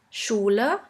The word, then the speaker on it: Schule: The next letter combination is SCH, which is simply pronounced like the letter combination SH. Let's have a look at a few examples. In English, you would simply pronounce it like in the word sheep, sheep. And in German, we have the word Schule, Schule, which means school.